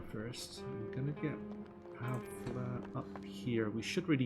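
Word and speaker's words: Pavle: generally going to be Pavla. I think that's the correct pronunciation of his name. I keep calling him Pavel, but you probably hear both pronunciations right this playthrough. But anyway, Pavla, I believe, is the correct pronunciation.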